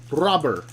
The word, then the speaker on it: Robert: go so blake says the t in robber is silent so it's luis rober right luis rubber that would be the official way to do it like a bank robber there you go luis